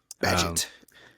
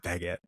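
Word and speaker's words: Bagent: Badgett. There we go. Badgett. I always want to say Baguette. It's not Baguette.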